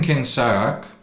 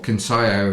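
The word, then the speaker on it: Kinsaiyok: So you're in Kinsayak, or Kinsayo as you pronounce it, which is the proper pronunciation.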